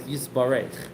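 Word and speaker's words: יתברך: Here it says Yisbarach. That's the Ashkenazi way of pronouncing it. The Chabad way is Yisbarach.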